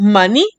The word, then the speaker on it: maní: Por ejemplo, tenemos maní, termina en vocal. Entonces, la sílaba tónica es ni.